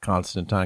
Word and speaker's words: Constantine: Yes, and I do call it Constantine because that's how it's supposed to be pronounced.